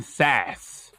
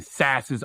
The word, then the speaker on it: Sasse: Donkey of the Day for Wednesday, May 20th goes to Senator Ben Sasse, or Sasse. I like sassy. No accent on the E, though.